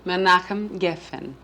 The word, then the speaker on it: Menachem Geffen: My husband is an Israeli, and his name is Menachem Geffen, which I don't expect people to be able to pronounce first time around because it took me some time to learn too. Menachem? Menachem Geffen.